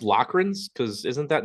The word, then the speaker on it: Loughran: you pronounce your name there's like four different pronunciations in my name okay like lagrin lochran you know there's there isn't like an actual I don't think there's actually a correct pronunciation you know what I mean it's just kind of How It's evolved over time all right we're gonna